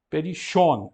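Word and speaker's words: περισσόν: Aqui temos os dois sigmas. A pronúncia jônica. Perichon, sh. Perichon, nós optamos por ler como sh.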